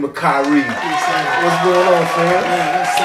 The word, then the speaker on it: Khari: It's usually KHARI or KHARI, Carrot. Yeah. It's not none of those. It's KHARI.